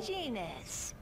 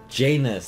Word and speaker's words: Janus: Janus. Janus, that's what it is. Is that your friend? Janus rhymes with penis.